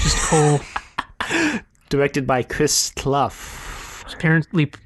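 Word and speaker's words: Kohll: by Malcolm uh Cole croll the power of Malcolm croll there's no R there it's Cole yeah unfortunately it's just Cole directed by Chris cluff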